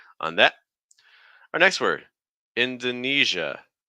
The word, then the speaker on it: Indonesia: Indonesia Indonesia okay so notice that when you have this EJ sound this e SI a in this case it's going to take on a j it's not a very common sound in English but we have it here for like like pleasure Leisure Fusion indon so it's not J it's a smoother sound the air needs to keep flowing through the mouth don't block it completely e eia Indonesia the